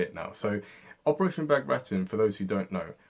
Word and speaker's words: Bagration: So Operation Bagration, for those who don't know, was a very decisive battle.